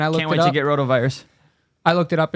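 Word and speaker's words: rotavirus: Kid got a roto virus over the weekend, so it's nothing. Is that how you pronounce it? Roto virus.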